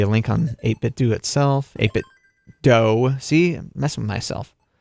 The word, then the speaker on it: 8BitDo: eight bit doe he he emailed them and they said it's pronounced do like scooby doo also they have a